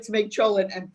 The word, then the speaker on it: cholent: Cholent is, if you say it like the old Yeatles, shul end, that's where they got it from. It's cholent, but in English, if you transliteration, it's CHOLENT.